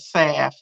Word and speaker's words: salve: an herbal eczema sound s-a-l-v-e Salve I know from the country we call it saff but it's it's yeah